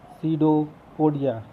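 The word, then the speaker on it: pseudopodia: लेकिन ये झूठे पैर हैं, इसीलिए इनको कहते हैं कूटपाद, और अंग्रेजी में इनका नाम रखा गया है सीडोपोडिया। पी से स्पेलिंग स्टार्ट होती है, सीडोपोडिया।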